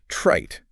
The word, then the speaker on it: trite: ideas were dismissed as trite and unoriginal. Ouch. And what's interesting about this word is that it's pronounced with a short I sound because it's followed by a voiceless consonant, the T.